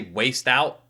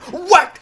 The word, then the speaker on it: whacked: Like, mother, it's pronounced whacked, how dare you? I feel like it's a lot more about you than it is about me when I'm mispronouncing it by accident. If that's your reaction to it, waste out. All right? All right. I mean, whacked out. You gotta admit, it's spelt weirdly, all right?